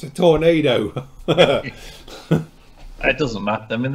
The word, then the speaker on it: Tornado: for anything at all I think it's pronounced the same as you say the weather yeah effect and if